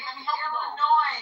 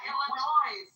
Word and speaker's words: Illinois: Wait, let me help you. Illinois, not Illinois.